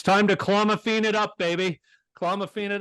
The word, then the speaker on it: clomiphene: Yeah, it's clomiphene.